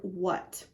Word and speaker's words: what: We used to not vocalize or not vibrate our vocal folds when we said that sound, but now we just pronounce it like it sounds like a W.